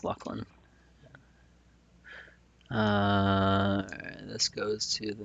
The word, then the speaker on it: Luclin: Still don't I still feel like I want to call it Luclin, but I believe it is pronounced Luckland.